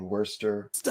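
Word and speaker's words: Worcester: Sometimes when you see how a word is spelled Yeah. you that letter is not necessarily pronounced and that's even more so more so in the UK you guys is it like leester and worester smittic I mean as a Canadian you come here and you're like smithwick and micious cuz I don't know that you're not supposed to pronounce those letters you have to grow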